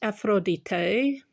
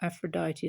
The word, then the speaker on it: Aphrodite: So this is Aphrodite, or Aphrodite as we pronounce it, and it actually means foam born of the foam.